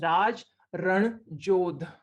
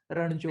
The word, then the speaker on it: Raj Ranjodh: This name, I've been sent the correct pronunciation. It's Raj Ranjodh. Like Ranveer. Ranjodh. Yeah, Ranjodh. You have to say it like with the proper Raj Ranjodh. Like you have to say it like that. That's when it comes out proper.